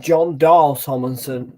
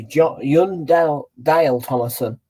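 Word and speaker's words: Jon Dahl Tomasson: word yundale Thomason I was expected to just pronounce that John Doe Tomlinson but now John Young Dale Thomason Ryan low and his team full of injuries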